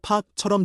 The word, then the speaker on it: พา: พา 는 데려가다. 한국어 팍처럼 들림.